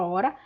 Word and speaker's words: hora: apenas uol r ua o h não tem som mas ele existe na palavra escrita né na escritura da palavra hora para distinguir o hora